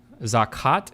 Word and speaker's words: Zakat: Zakat is how it's pronounced.